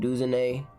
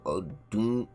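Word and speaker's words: Odunze: overall 77 for Rome Duan I know I said his name wrong I said D Rome D what the am I talking about Rome o dun I'm tripping Cooper 75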